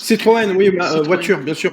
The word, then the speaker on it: Citroën: prononce. Citroën, oui, Citroën.